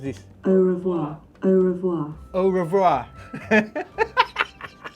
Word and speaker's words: au revoir: us questions and mario marios how do you pronounce this a revoir au revoir au revoir au revoir what happened to